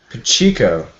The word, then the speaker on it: Pacheco: By the way, his last name is pronounced Pacheco. Pacheco.